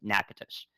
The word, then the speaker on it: Natchitoches: I got that pronunciation for you ahead of time, by the way. Natchitoches.